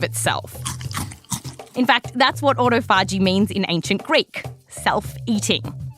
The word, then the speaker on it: autophagy: So this sciencey sounding word, it's derived from ancient Greek. And to find out how to properly pronounce it, we tracked down 5 people who speak ancient Greek. That's right, there are bigger nerds than us out there. Now, they all told us slightly different things, but it tended to be something like autophagy. So that's what we'll go with.